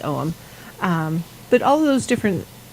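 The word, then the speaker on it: Ogham: i'll say it again om is spelled weird a lot of the celtic words are spelled weird at least according to this north american person yeah oh g-h-a-m looks like algum it's not it's owen um but all those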